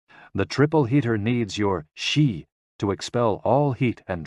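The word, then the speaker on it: 嘻: and Xi pronounced like she which connects the whole body.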